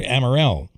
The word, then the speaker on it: Amell: And uh, restaurant owner in Lake Placid, Stuart Amell. I think I'm saying it correctly. Um, and uh, he is on the line right now. Stuart, I I hope I didn't butcher your name. No, you got it, Bill.